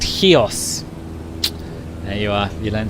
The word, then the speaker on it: Chios: ah demetrius thank you i pronounced chios wrong in my last video it's in fact heos there you are you